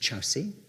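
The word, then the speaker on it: Kyaukse: It's spelt Korksi, it's pronounced Chowsi.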